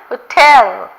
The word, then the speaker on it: hotel: ஹோட்டல். அந்த ஹோட்டல் அந்த வேர்டை வந்து அந்த லெட்டரை வந்து ப்ரொனவுன்ஸ் பண்ணக்கூடாது.